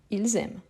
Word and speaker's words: ils aiment: pluriel et ici non mais en fait on ne doit pas prononcer le S sauf s'il fait la liaison ils aiment vous vous